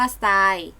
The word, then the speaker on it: ทราย: ตัว อื่น นะ คะ รูป ทร ออก เสียง ซ ออ เช่น ทรัพย์ อ่าน ว่า ทรัพย์ ส่ง อ่าน ว่า ส่ง ทราย อ่าน ว่า ทราย ทราบ อ่าน ว่า ทราบ